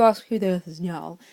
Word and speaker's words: Njal: And before any of you ask who the earth is Njal, it's Njal, but that is actually the correct way of pronouncing it in the Norse language.